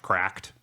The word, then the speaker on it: CRKD: Uh, which apparently is supposed to be pronounced cracked.